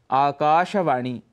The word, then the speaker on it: आकाशवाणी: पूरा बोलना चाहिए जनता ऐसे ही आकाशवाणी इसका उच्चारण शुद्ध यदि करना है तो वह है आकाशवाणी दिनदर्शिका दिन दर्शिका अर्थात